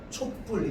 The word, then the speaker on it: 촛불: 어떻게 발음되느냐? 촛불 이렇게 발음됩니다.